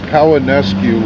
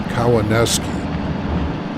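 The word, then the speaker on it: Cowanesque: It's Kawanesque Lake. Later, we were told it's actually pronounced Kawanesque.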